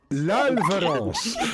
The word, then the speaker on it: L'Alvarance: L'Alvarance. The L is silent.